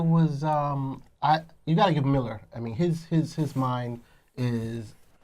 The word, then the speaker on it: Millar: I thought it was Myler, since it's a I A, was not thinking it's a A, but then I've heard they say it's Miller.